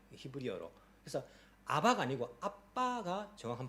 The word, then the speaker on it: Abba: 정확한 발음은요 아바가 아닙니다. 정확한 발음은 아빠입니다. 영어로 말하면 ABBA입니다. ABA가 아니고 B가 두 개 있습니다. 히브리어로. 그래서 아바가 아니고 아빠가 정확한 발음입니다.